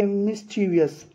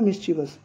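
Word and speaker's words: mischievous: ए मिस्चीवियस, देखो मिस्चीवस का मतलब होता है शरारती, है ना। तो यहाँ पर लोग इसको मिस्चीवस भी पढ़ते हैं, मिस्चीवियस भी पढ़ते हैं, लेकिन ये सही प्रोनाउंसिएशन है इसका मिस्चीवस।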